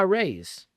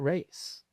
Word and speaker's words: Reyes: So they were just brought out by Reyes. And I got to clarify that, because we want to say Reyes. It's not Reyes. Okay. You're teaching me something. It's Reyes. That's the way they want it pronounced.